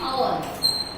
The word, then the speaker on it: hour: N is also used for words beginning with H. Okay. Where it is not pronounced.